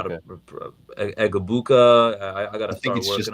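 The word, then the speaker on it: Egbuka: even know how to Egabuka. I got to start working on how to pronounce I think it's a silent G. It's a silent G. So, Mecha Ibuka. Abuka.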